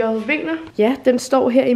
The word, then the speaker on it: Wegner: Det, fordi det staves W-E-J-N-E-R, så troede jeg, det var Wegner. Det ved jeg ikke, det var bare sådan, jeg læste. Og sådan, jeg har aldrig hørt hans navn blive sagt højt. Så ja, nu har jeg fundet ud af, at det udtales Wegner.